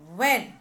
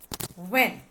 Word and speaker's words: when: When. Three sounds, four letters. Here H is silent. A-N. When.